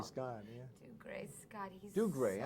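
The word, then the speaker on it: Dougray: And in the Franciscan library, Doug Ray, a lucky guy. He's so wonderful. Our Prince Charming is absolutely charming. He is so wonderful. Doug Ray Scott, yeah. Doug Ray Scott.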